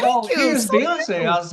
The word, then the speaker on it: Bionce: Beyoncé." And I went on to explain that it's spelled differently, but pronounced the same.